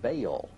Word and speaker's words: Baal: The word is probably the contracted form of some other Hebrew word, commonly pronounced Baal and spelled B-A-A-L.